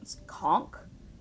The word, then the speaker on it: conch: a conch shell. See, I'm pretty sure it's pronounced conchk, but the game keeps saying conch.